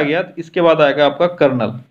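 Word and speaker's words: colonel: इसके बाद आएगा आपका कर्नल जिसको इंग्लिश में स्पेलिंग देख लो इसका कॉलोनल होता है तो ये है कर्नल और फिर लेफ्टिनेंट कर्नल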